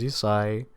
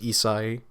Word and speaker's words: Isahi: My name's Isahi, or Isahi, however you want to pronounce it. People usually pronounce it Isahi because it's a little easier, and it's kind of like the Asian beer Asahi, but just Isahi, So that's my name.